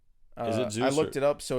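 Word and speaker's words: Zuse: no Zeus I looked it up so it's it's spelled z-u-s-e so it is like Zeus but not like z-e-us okay Zeus which is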